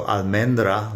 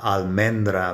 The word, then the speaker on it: almendra: La almendra, men, is the strong syllable, and almohada, it's the A towards the end, that's a strong syllable.